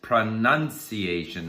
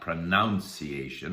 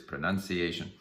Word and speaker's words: pronunciation: Today I want to talk about pronunciation because, and by the way, the word is pronunciation, not pronunciation. I sometimes hear people say pronunciation. That's not the word, it's pronunciation.